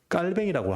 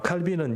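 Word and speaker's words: 칼뱅: 잘 아시는 칼빈 있니다 칼빈 어 깔뱅이라고 하죠 그죠 깔뱅이라고 합니다 블란스 말인지 어디 말인지 내가 잘 모르겠습니다 만 깔뱅이라고 합니다 어 칼빈은 영어식 발음이 되는 것이죠이 칼빈이 주장한 것입니다 그래서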